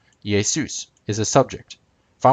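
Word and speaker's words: Ἰησοῦς: would say yay soon yay soos is Jesus's name used as the subject in Greek obviously yay soon is Jesus's name used as an object notice the difference yay soos ends in an S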